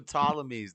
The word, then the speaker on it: Ptolemies: The Ptolemies. The P is silent, Freddie.